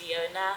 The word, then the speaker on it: Vlleeon: my name is Leona complicated spelling but it's pronounced Leona yeah I am a